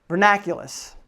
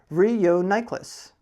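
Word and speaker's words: Reuniclus: This one's a good one because I used to pronounce this vernaculous. It's not vernaculous. Wait till you hear this one. Reuniculus.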